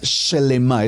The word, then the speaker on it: shelemá: Número uno, la emuná shelemá. Escríbala como la estoy pronunciando.